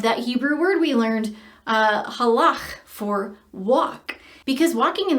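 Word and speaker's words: הלך: So we're going to have Ayelet show you how to pronounce this Hebrew word. Halach, halach, halach, halach.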